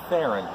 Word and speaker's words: Theron: with Charlize Theron and everybody says her last name wrong but I watched her in every one time it just says my name is Baron kind of like Sharon it rhymes with Sharon so that's how you pronounce my last name is Farah joining us